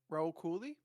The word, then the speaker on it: Rahul Kohli: Rahul Kohli.